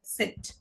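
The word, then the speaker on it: Zett: জেড কে ডয়েসে বলা হয় সেট। এটা কিসের মতো উচ্চারণ হয়?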